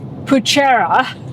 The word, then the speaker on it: Poochera: It's Poochera, and it's the reason why we're not staying here tonight. Because you can't pronounce it, you can't stay here.